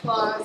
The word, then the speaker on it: Claus: So Claus, it is pronounced Claus. I always tell people I'm Mrs. Claus.